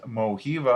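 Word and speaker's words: Mojiva: you check out in moby another one is mohiva i believe is how you pronounce it it's m-o-j-i-v-a they have different mobile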